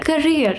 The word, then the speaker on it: career: Carrier, career, not carrier, career.